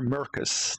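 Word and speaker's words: Maercus: And it's either Marcus or Mercus, depending on which region and which version of the game you're looking at, because in English in North America and English in PAL, it's spelled M-A-R-C-U-S and M-A-E-R-C-U-S.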